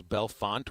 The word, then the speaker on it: Bellefonte: I would like to thank the listener who corrected my pronunciation for the name of the road. This is Bellefonte Road in Harrison.